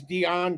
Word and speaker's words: Diane: Her name is Dion Krueger. It's spelled like American Diane, but she's German, which is hence why they had to include the line about Anglo Dutch.